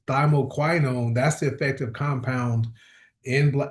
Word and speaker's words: thymoquinone: And that's how you pronounce it. I've learned I said it wrong for years. I call it thyo thyo kenone. It's thymoquinone.